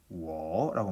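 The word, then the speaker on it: 我: 그 다음 나를 중국 사람들은 워라고 말합니다.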